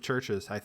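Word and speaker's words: Chvrches: of the members of churches have organs of sex. At least 2, possibly all of them. A penguin. What's churches? The band, the band Churches. It's you wouldn't recognize it because it's spelled Chiverches.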